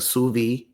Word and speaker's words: sous vide: So what we do is we take a sous vide, right?